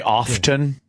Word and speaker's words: often: Do you say often? Yeah. You're Often. not supposed to. Yes, you are. It's a silent T.